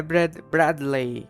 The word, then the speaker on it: Bradley: Tá, como é que pronuncia? É Bradley.